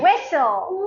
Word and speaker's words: whistle: S-T in the middle. Like castle. Castle. Listen. Listen. Listen. Listen. Whistle. Whistle. Whistle.